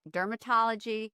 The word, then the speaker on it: DRMTLGY: care line Dermatology and it's like Dermatology spelled with no vowels it's a very very